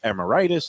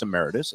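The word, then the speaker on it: emeritus: you know how I am a stick for pronunciation you used to say amitis and I said it's a Meritus it actually is a Meritus but I've lately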